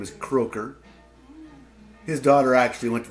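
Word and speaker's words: Krakau: Former Iowa State Cyclone, Merv Croker, and that's how you pronounce that name, is Croker.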